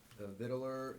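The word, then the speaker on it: victualler: So the C is not pronounced?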